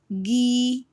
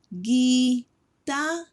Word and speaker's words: guitarra: Guitarra. Guitarra, which means guitar. Guitarra.